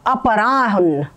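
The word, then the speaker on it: अपराह्न: अपरान तो यहां अपरा ये ह जो है ह पूरा है। हलंत है और न पूरा है। अपराहन अपराहन।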